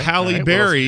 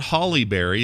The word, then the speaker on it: Halle Berry: to go right okay Halle Berry is not Halle Berry it is pronounced Sally Bally rally are tallied like Halle